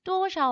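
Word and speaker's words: 多少: 그래서 多少 할 때 샤오를 경성어로 발음하는 거 잘 봐두시고요.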